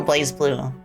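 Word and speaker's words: BlazBlue: It is pronounced blaze blue according to the game itself. Okay, Rosie Raid. Yeah. What did you all play in your stream by the way? In the cross tag battle, the announcer pronounces as Blaze Blue. I had a feeling. I had a feeling cuz Blaz sounds um uh it doesn't sound cool.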